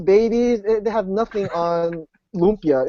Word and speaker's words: lumpia: they have nothing on lpia it's nothing you know you know it's weird because people keep correcting me like it's Lumia it's lpia it's not Lumia so you know whatever